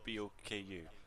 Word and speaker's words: Boku: It's BOKU.